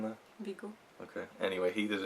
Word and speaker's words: Viggo: I'm trying to correct my pronunciation there. Viggo.